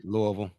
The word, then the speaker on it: Louisville: Yeah, Louisville.